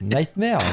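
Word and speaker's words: Knightmare: Prononce pas le cas, s'il te plaît. Ouais, après je dis le cas après j'ai. Ouais, mais comment tu fais alors si tu dis Nightmare, tu fais comment sans le cas ? Tu dis Nightmare, je dis pareil.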